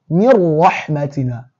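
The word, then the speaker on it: مِن رَّحْمَتِنَا: the it will be min rahmatina. But this here, we are not doing with the sound, we are doing without it. So it would be like you are totally eliminating this Nuun.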